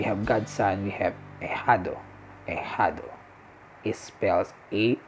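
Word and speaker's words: ahijado: god's son we have a hado a huddle it spells a h i j a d o so here we go again the h you pronounce it silent it's assigned it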